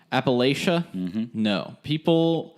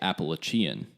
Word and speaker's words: Appalachia: And so the way that you say Appalachian is the way that we say it. So there's like a little more reinforcement over what is correct and what is incorrect. Well, there's also the school that everyone pronounces correctly, Appalachian State. So I don't know where between them saying Appalachian State and Appalachia, they get Appalachia. Appalachia. It's somehow like when you take away the state, Appalachian